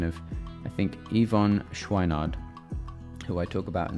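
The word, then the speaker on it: Yvon Chouinard: I wanted to just check the pronunciation of I think Ivonne Schwinard who I talk about in the book. So I wanted to make sure I pronounced that right. So Ivon Schweinard is the founder of Patagonia.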